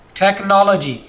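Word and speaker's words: technology: इसी तरह टेक्नोलॉजी, टेक्नोलॉजी, ये एच से पहले सी आ गया तो यहां पर हमने एच को साइलेंट रख दिया।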